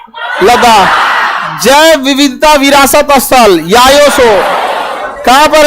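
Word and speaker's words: Yaya Tso: जैव विविधता विरासत स्थल याया सो याया सो याया सो देखिए टी साइलेंट होता है याया सो झील कौन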